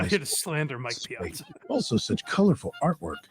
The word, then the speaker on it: Piazza: here to slander Mike Piazza. Also such colorful artwork. How do you say pizza? No, honey, it's Piazza.